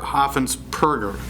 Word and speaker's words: Hoffensperger: It's not Berger, Hoffensperger. It's with a P, not a B.